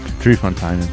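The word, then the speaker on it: Drie Fonteinen: contains 100% dry fanin D fonin brw lamic Dre fontin Dre fontin told me 10 seconds ago it's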